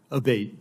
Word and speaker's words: Abate: I saying your name properly we've heard it pronounced three different ways today in the hearing aate Senator aate okay thank you um you had